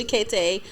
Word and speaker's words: Cheakaity: next Cheakaity.